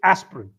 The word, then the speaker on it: aspirin: No, there is no aspirin or you don't have to say the I at all. So, it's aspirin.